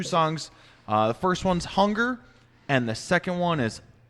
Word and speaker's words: Hunger: should be pronounced Hunger. Hunger. Okay. There's no umlauts on there.